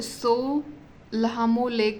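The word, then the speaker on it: Tso Lhamo: एक लेक है इसको सो लमोट भी बोल सकते हो या ट सो मतलब ये टी जो होता है वो साइलेंट होता है सो लामो लेक जो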